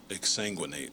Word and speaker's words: exsanguinate: I said, okay, so the parameters are that it has to be 4 syllables, and the last syllable has to rhyme with 8. And I'll just say that the most worrisome word that they came up with is exsanguinate, which is a